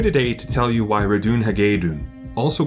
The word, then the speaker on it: Ratonhnhaké:ton: She pronounces Ratohnhaké's name as Ratohnhaké, rise, we must go.